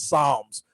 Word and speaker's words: Psalms: You cannot be a devout Catholic and not know how to pronounce Psalms. Call it palms.